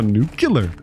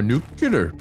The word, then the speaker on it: nuclear: working on nuclear alloy it's pronounced nuclear no nucular no nuclear we have four more